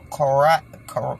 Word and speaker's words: Correia: is the way it would look if you pronounced it Korea, but it's Cora. I don't even want to try to say it. It was like Coral, or Coray.